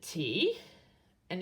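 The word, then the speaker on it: た: And how do you say T and A in English? Ta.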